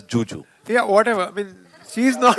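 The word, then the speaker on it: Zhu Zhu: So it's written as it's written as Zuzu, but she pronounces it as Juju.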